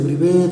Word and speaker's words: Brivé: es, pueden buscarnos como Brivé Soluciones. ¿Cómo se escribe? Es Brivé, B-R-I-V-E, con tilde al final, el acento es en la última E, Brivé Soluciones.